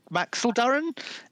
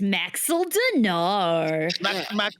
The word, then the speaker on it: Maxildanar: Is Neareth Maxildaran? Is Maxildanar? Is he in right now? You're not saying it right. It's Maxildanar.